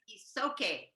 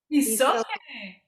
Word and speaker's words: Isoke: Her name is Isoke. Isoke. Like it's okay if you forget.